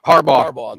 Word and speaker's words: Harbaugh: Harbaugh.